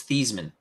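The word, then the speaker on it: Theismann: I liked old Joe thyman thyman changed his name so he could win the Heisman you actually his original pronunciation was theeman yeah changed his name so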